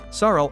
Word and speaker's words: Saroo: Saroo also learns that he has been mispronouncing his name his whole life, because his name is actually Saroo, which means lion.